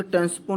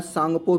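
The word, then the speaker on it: Tsangpo: तो यारलंग टेंसपो नहीं, इसको जो सांगपो भी कहते हैं। तो यह ब्रह्मपुत्रा का प्रचलित नाम है। ठीक है, तो सांगपो नदी भी कहा जाता है ब्रह्मपुत्रा नदी को। यहाँ पे टी साइलेंट है, तो यहाँ पे देखिएगा यारलैंग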